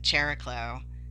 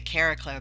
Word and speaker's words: Chariklo: A lot of people pronounce it Chariklo, but I say Chariklo because she's the wife of Chiron, and they both start with CH.